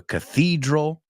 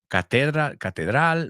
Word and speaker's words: cathedral: So if you're Catholic, then you go to a cathedral. Otra que he oído mucha gente decir, catedral, right? Cathedral. El énfasis va en la I, cathedral, Catholic.